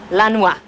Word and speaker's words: Lanois: to producers Brian Eno and how do you pronounce his name Daniel Lee Roy Lanois Lanois okay and and how would you describe they're